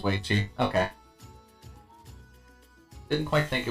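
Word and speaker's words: Weiqi: should have checked, but is that actually pronounced as Weichi? Why is it called Go? Originated in China and it was called that. Okay. But the Japanese players brought it up as Go. Okay, that makes more sense. Oh wow, I was actually pronouncing that right. That was Weichi.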